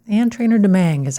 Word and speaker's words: Domingue: Ann Trainer Domingue is how she pronounces it.